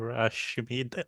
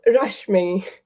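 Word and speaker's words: Rashmi: your time thank you Rashi am I pronouncing your name correctly um it's rash me rush me close close and off sorry for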